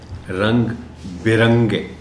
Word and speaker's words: رنگ برنگے: سامنے آ چکا ہے، جس کا تلفظ میں نے خاص طور پر آپ کو بتایا تھا. وہ تھا رنگ برنگے، جس کو عام طور پر لوگ پڑھتے ہیں رنگ برنگے. رنگ برنگے، بے کے نیچے زیر کے ساتھ، اس کے